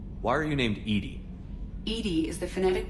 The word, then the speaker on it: EDI: is a jar why are you named Ed Ed is the phonetic pronunciation of e that is an acronym for